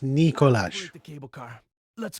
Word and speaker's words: Nikolai: Nikolai won't be joining us. I understand. It's pronounced Nikolaj.